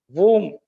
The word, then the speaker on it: womb: is that we use for combing our hair womb mother's om bomb something that is used to